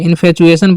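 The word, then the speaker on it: infatuation: Next है इनफेचुएशन। इसे क्या पढ़ना है? इनफेशन। ठीक है? इनफेचुएशन पढ़ना है इसे। ठीक है? टू को मतलब टी को च पढ़ना है।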